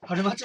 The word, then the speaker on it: 原町: あ、でも、ま、ですか、ここね、春町って読むんですよ、これね。